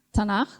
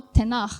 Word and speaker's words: Tanakh: Cuma te-en-kah, tapi dibacanya tanah atau tenah kalau orang asing.